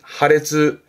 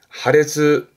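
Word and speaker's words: 破裂: 발음은 하레츠, 하레츠.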